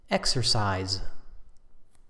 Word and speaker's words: exercise: the word exercise first a pronunciation note the last sound is exercise now remember that exercise